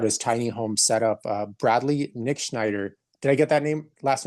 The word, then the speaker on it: Nitschneider: Bradley Nitschneider.